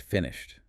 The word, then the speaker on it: finished: But then right after it looks at the word finished as in I finally finished it. And the source points out that the ed ending here has a t sound.